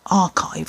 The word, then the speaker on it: Arkive: This is by a company called Archive. I don't know if you can read that, but it's spelled Arkive, and it is the Root-Ine, as in R-O-O-T, I know, scalp serum.